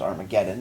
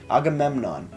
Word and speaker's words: Agamemnon: this a gamut Agamemnon took me a while to to figure out how to actually pronounce the can I thought it was Armageddon it's I'm like autumn Embassy Agamemnon it's hard to read sometimes at your local LCBO though you're